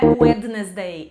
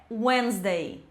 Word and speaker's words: Wednesday: Mais uma letra fantasma aqui, tá? Não é Wednesday, é Wednesday.